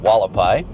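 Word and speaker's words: Hualapai: We just turned on to Walapai. That's that weird funny name. Starts with an H, but it's spelled it's pronounced Walapai.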